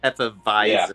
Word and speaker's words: Hefeweizen: So the W is actually supposed to be a V sound. Hefeweizen. Yeah, Hefeweizen. Yeah, the W's are V's.